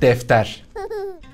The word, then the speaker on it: defter: And defter. Defter. Defter. Defter ends with an R. Defter. That's very good. That's correct. Now combine it. Dağıtık defter.